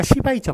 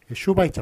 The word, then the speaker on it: 슈바이처: 앞으로 오면 슈로 쓰고 뒤에서 오면 시로 쓰는 겁니다. 뒤에 오면. 예, 그래가지고 우리 슈바이처 박사입니까? 시바이처 박사입니까? 슈바이처 박사.